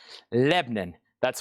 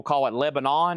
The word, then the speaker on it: Lebanon: Lebanon, that's one syllable. Most people call it Lebanon.